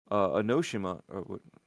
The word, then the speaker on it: Onimusha: I question that one too because it seemed like they were going to do another Onimusha, right? Onimusha? Onimusha. Onimusha, there you go. Yeah. I knew the syllables were off.